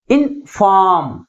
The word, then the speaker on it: inform: That is second syllable is pronounced with a greater force comparing with first one. Okay, how we articulate this word? Inform.